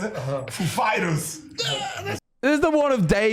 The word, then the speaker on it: Foo Fighters: like he said he asked us if the accent was on Foo or Fighters and we know who he is like of course we know how he speaks and we said uh the accent is on Fighters actually he goes up